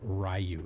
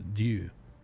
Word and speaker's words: Ryu: Like, if you talk Street Fighter, Ryu is not, his name isn't Ryu, it's Ryu. But all us Gaijin pronounce it Ryu.